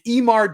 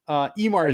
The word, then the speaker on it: Eimear: I had to look up how to say her name correctly because it's Irish. Oh, come on, man, those don't names are crazy. It's Eimar Darcy. Eimar is spelled Eimear. Eimar.